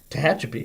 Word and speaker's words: Tehachapi: I can pronounce the name town you're from. Tehachapi.